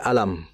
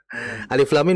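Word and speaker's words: الم: Alif lam mim baca alam. Maka beliau mengatakan kalau alam berarti sama dengan salat alisyirah. Alam nasyrah. Nah, kan seperti itu. Artinya membaca huruf yang berada di ayat pertama di beberapa surat ini tidak bisa kita membaca secara hurufnya, tapi kita harus membaca sesuai dengan ejaannya.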